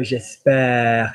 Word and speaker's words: j'espère: So notice that when you say, you go, j'espère, it kind of goes longer.